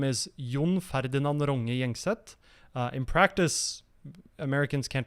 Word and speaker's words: Gjengset: So I usually go by John Gjengset, which is really just ignore the G's in the surname.